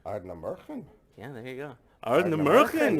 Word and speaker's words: Ardnamurchan: Ardnamurchan. Ardnamurchan.